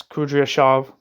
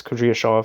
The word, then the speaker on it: Kudryashov: The Trotskyist present, remarks Kudryashev, I think it's Kudryashov.